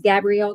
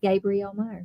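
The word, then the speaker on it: Gabrielle Meyer: I always think her name is Gabrielle because it's spelled like it, but she pronounces it Gabriel Meer.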